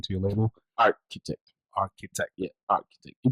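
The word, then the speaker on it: Artchitect: Yeah, Architect. You pronounce it like nobody. It's just a spelling that's different. Like the number Architect, right? It's ART, like the art, and then the CHITECT.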